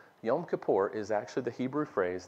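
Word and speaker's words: Yom Kippur: and you say what in the world is yam Kipper I know you've done it I grew up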